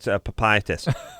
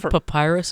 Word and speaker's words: papyrus: psoriasis and and says I think it's called papitis. That's your information. You're mispronouncing what it's You just mispronounce it. That's papyrus.